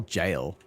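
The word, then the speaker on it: Gael: Is it Gale or Jail? The Slave Knight guy. I forget. I don't know how to pronounce his name. No one says it in game. I think I watched a lore video where they called him Gale, but it's also spelled suspiciously similar to the Old English word for jail. So it's, yeah, Gale, I believe.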